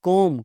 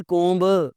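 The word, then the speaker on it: comb: कोम्ब, कंघी, देखी तो होगी आपने। इट्स नॉट कोम्ब, इट्स कोम्ब।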